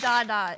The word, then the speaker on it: Dada: Yes, it is Dada.